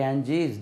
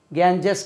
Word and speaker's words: Ganges: ஆங்கிலத்தில் உச்சரிக்கும் போது எப்படி டெல்லி சொல்கிறீங்களோ அதே மாதிரி கேஞ்சீஸ், த கேஞ்சீஸ், த கேஞ்சீஸ். கேஞ்சஸ் கிடையாது, கேஞ்சீஸ், Ganges.